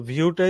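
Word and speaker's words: Vue: আরেকটা হচ্ছে ভিউ জেএস এটাকে অনেকে বু বলে তো ভিউটাই হচ্ছে মূলত ওদের অফিসিয়াল ডকুমেন্টেশনে ওরা বলেছে এটার নাম এটা উচ্চারণটা অনেকখানি কিসের মত ভিউ এর মতো এটা ভিউ জেএস ঠিক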